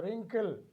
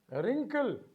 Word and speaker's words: wrinkle: a wrist we have w is silent in wrinkle we have w is